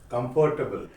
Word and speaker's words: comfortable: Comfortable. It's not comfortable, it's comfortable. Comfortable.